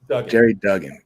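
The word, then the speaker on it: Gerry Duggan: you your story is is it jerry or gary dugan jerry jerry jerry jerry duggan great now i know how to say his name jerry and i know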